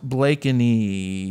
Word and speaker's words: Blakeney: Blakeney, pronounced Blakeney, since you always mispronounce it.